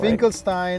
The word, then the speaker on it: Finkelstein: Finkelstein Yeah, is Finkelstein.